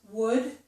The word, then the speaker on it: would: In these two words, would and could, we do not pronounce the letter L. So it's as if there were no L in those words.